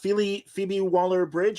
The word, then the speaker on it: Phoebe Waller-Bridge: And listen, Phoebe Waller-Bridge, is that how you say her name?